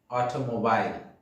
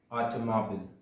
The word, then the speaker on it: automobile: This word looks like automobile, but let me tell you, this is not correct pronunciation. The correct pronunciation of this word is automobile. Be careful, there is no mobile in the word. It's mobile, automobile.